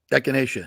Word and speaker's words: echinacea: Vitamin D, Quercetin, zinc, vitamin C, and echinacea. Is that how you pronounce it? Echinacea.